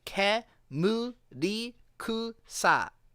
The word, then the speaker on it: Kemurikusa: Well, I'm just saying that in Japanese, the letter E is always E, and I is always E, and O is always O, and U is always U, and A is always A. So, Kemuri Kusa necessarily must be Kemurikusa.